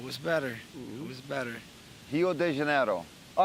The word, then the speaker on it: Rio de Janeiro: de Janeiro all right they both butchered that middle it's not day it's D now a lot of Brazilians will tell you it's yo de Janeiro but we go Rio de Janeiro Rio de Janeiro yeah